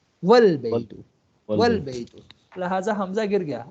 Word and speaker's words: والبیت: تو اب ہم اس کو البیت نہیں پڑھیں گے بلکہ کیا پڑھیں گے والبیت, والبیت.